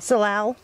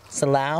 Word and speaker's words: salal: Salal. Salal? I know that. There, people pronounce it a couple different ways. Salal or salal.